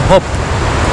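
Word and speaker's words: Höfn: a city called open open h-o-f-n but they pronounce it here hope but in english they pronounce it often so it's confusing you know anyway so i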